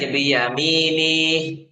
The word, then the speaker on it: بيمينه: فأما من أوتي كتابه بيمينه Nihnya jangan dipanjangin, biyaminih. Nihnya jangan dipanjangin. Biyaminih.